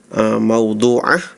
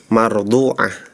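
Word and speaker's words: مَوْضُوعَةٌ: Terus juga ini ada salah huruf ya di surah Al-Ghasyiyah ya, ayat 14 ya, harusnya maudhu'ah. Tadi kedengaran saya ya, mungkin benar ya, tapi kedengaran saya itu tadi bacanya mardhu'ah ya.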